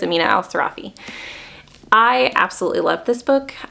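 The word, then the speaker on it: Amina al-Sirafi: was The Adventures of Amina Al seraphi or sarafi always mispronounce her last name I'm pretty sure it's Amina Al sarafi I absolutely love this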